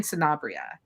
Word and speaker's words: Sanabria: it out you said correct Sanabria s-a-n-a-b-r-i-a and we are say spell it again Sanabria s-a-n-a-b-r-i-a trying to find that